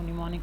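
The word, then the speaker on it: mnemonic: M यहाँ पे first M इसका साइलेंट है तो इसको निमोनिक पढ़ेंगे।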